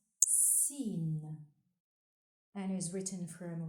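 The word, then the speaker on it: سين: The 12th letter is pronounced Sin and is written from right to left on the line. Sin, like in sun.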